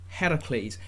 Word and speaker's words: Heracles: descended from the greek god heracles yes disney that is how you pronounce it you did not put